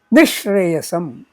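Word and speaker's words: निःश्रेयसम्: Nishreyasam, Nishreyasam. Note, here the visarjaniya stays, but its pronunciation is more like the sh next to it.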